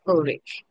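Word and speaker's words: Ulrich Zwingli: study the life of ulrick swingle so it's a German pronunciation they say It's olic English or rich or rich and even English pronunciation says orich Okay so Who is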